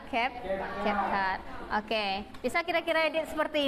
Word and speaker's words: CapCut: Bacanya CapCut atau CapCut? Oke, kalau biasanya orang-orang bilang CapCut ya, tapi yang benarnya adalah CapCut.